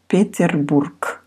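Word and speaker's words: Петербург: of pronunciation for pronunciation so the last letter actually you pronounce here like peterborg if you go uh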